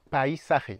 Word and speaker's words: paisaje: El paisaje. Attention, chaque lettre se prononce.